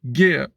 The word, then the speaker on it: Gere: Oui, on est tenté de prononcer Gere, mais non, c'est bel et bien Richard Gere.